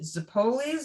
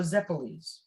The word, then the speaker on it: zeppole: And also now, do you pronounce it Zippolis or Zeppolis? Zeppolis. They take Zeppole.